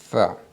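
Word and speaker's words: ث: Tha. Cette lettre-là, pour bien la prononcer, on colle la langue aux dents supérieures. Tu colles ta langue à tes dents supérieures et tu essaies de souffler en prononçant tha, tha, tha, tha.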